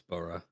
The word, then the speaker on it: borough: You said borough as well, it's burra.